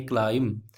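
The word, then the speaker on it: climb: बी नहीं पढ़ेंगे, क्लाइम।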